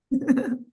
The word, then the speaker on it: Ohia: Ohia. Yeah, I was able to pronounce it correctly.